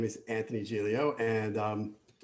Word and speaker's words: Giglio: my name is anthony gialio and um i'm the guy with the unpronounceable speed bump in the middle of my name that makes some of you want to call me gigolo and maybe that has